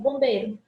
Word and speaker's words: bombeiro: É como se eu dissesse bombeiro. O Izinho quase não é pronunciado, né?